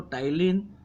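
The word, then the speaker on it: ptyalin: ये एक एंजाइम स्रावित होते हैं जिसको टाइलिन या एमिलेज कहते हैं। कोई कोई उसको एमिलेज को एमाइलेज भी कहते हैं, AMYLASE। और टाइलिन में पी साइलेंट रहेगा और TYLIN इसकी स्पेलिंग है।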